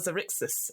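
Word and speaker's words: Xaryxis: So we've got the Astral Adventurer's Guide, Boo's Menagerie, and now, how do you pronounce this? Light of Zarshis. Lights of Xerixis.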